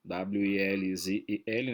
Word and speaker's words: Welzel: O seu autor principal se chama Hans Welzel, W-E-L-Z-E-L, né? Welzel, na pronúncia correta do alemão.